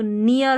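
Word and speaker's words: near: फिर ये इ ए आर है एन के साथ तो नियर हो गया।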